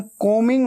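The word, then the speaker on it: combing: रहे हैं आई एम कोमिंग my hair कोमिंग को मिंग ऐसे बोलना है ठीक है बी हमेशा साइलेंट होता है स्पेलिंग में आता है लेकिन बोलते वक्त उच्चारण में नहीं आता प्रोनंसिएशन में नहीं आता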